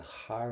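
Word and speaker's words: thar: And again, don't pronounce that T, har, because it's got a H.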